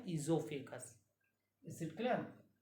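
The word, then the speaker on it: oesophagus: इसका another name है इजोफेगस। इज it clear? इसमें ओ साइलेंट है, ओ साइलेंट है, इसलिए हम लोग इसको ओजोफेगस नहीं पढ़ते हैं, इजोफेगस पढ़ते हैं, ठीक है।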